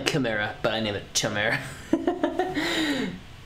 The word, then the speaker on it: chimera: little baby arms oh I call it Sumaira because I'm friend named Tamara and he just goes by these it's the same spelling but I'm pretty sure it's pronounced as you're typing it chimera actually I don't even think about that yeah definitely chimera but I need a